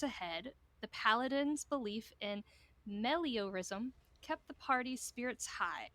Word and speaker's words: meliorism: despite the dangers ahead, the paladin's belief in meliorism kept the party's spirits high as he was convinced their actions could make the world a better place. And it's spelled M-E-L-I-O-R-I-S-M.